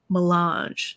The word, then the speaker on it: melange: the duke said there is more chome than melange isn't that how you say it yes got